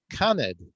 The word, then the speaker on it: Canid: CEO of an interesting company called Canid. Am I pronouncing that correctly? Correct.